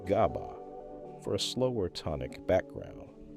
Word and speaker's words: GABA: Glycine for fast inhibition and GABA, pronounced GABA, for a slower tonic background.